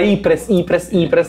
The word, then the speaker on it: Ypres: Ypres. Ah no, Ypres. Il Belgio è il Belgio francofono, sì. Scusate, l'ufficio pronuncia, ho sbagliato io. Fosse stato... Giuro, è Ypres.